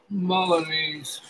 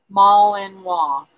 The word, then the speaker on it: Malinois: Malinese. They're absolutely beautiful. I knew it was a different country's name. I'm bad with names, Holland. Hey. Nice to have you back, Patty. Malinois.